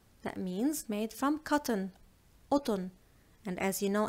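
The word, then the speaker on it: قطن: And as you know, in Lebanese, mostly we do not pronounce the letter qa. So we do not say the qaf letter. We swap it for the glottal stop. So we say mesh, mesh, otun.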